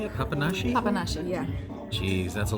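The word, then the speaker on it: papanași: Papanashi?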